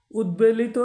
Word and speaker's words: উদ্বেলিত: কোন উচ্চারণ নেই আবার উদ্বেলিত শব্দে দ এ ব ফালা রয়েছে এখানে ব এর উচ্চারণ রয়েছে আবার দেখুন বিদ্যান শব্দেও দ